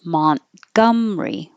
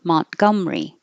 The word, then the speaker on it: Montgomery: can make shorter so instead of Montgomery you can drop the ER and push it together Mont and don't say the T Montgomery Montgomery Montgomery Alabama blue and blue